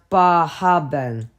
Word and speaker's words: Bar Harbor: magic names keman Rockin Bar Harbor pronounced baben whis bath Portland AIT